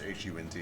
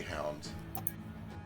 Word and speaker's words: Hund: I actually don't know how you're supposed to pronounce it when it's H-U-N-D. It might just be Hound. It's U-N-D, it's Hund, isn't it? Hund? I say Hund.